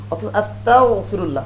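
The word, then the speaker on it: أستغفر الله: কাফের হতে চাই নাউজুবিল্লাহ আস্তাগফিরুল্লাহ গন দিয়ে উচ্চারণ করতে হবে তো আস্তাগফিরুল্লাহেফাল থেকে আসলে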